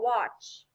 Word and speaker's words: watch: diagraph s8 how about watch h cross out the t because you don't pronounce it very good about squat